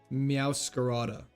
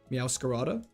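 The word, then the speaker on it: Meowscarada: You say it like masquerade. Meowade. Meowcarada. Like that. Meowcarada.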